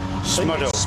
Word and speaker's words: Smudo: How did you pronounce that rapper's name? Smuddo. Smudo.